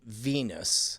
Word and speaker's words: Venus: And I'm going to say if Venus is closer than the sun, I'm going to say 3 minutes.